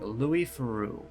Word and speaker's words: Theroux: I pronounced it Louis Theroux. Anything from his weird weekend series is worth watching. Louis Theroux. Okay, Theroux.